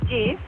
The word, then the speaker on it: GIF: GIF is pronounced GIF. What? As in giraffe.